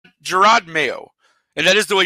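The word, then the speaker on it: Jerod Mayo: Gerard mayo and that is the way you pronounce it I had to look it up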